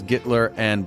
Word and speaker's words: Gitler&: When you spell it out, it's Gittler and blank, but it's pronounced Gittler and.